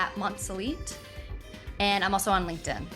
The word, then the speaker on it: Monselete: e t I'm also on Instagram so @ monelite and I'm also on LinkedIn so any one